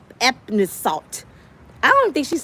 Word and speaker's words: Epsom: Epsom salt.